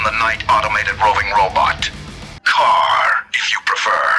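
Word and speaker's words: KARR: kit which is car be mindful that car here in this case is spelled as k-a-r-r car the knight automated roving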